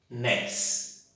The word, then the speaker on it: anéis: Anéis. O néis é possível que eu fale em uma única sonoridade essa estrutura da palavra. Então, anéis. Perceberam a tonicidade? Anéis. Qual que é a sílaba mais forte? Néis.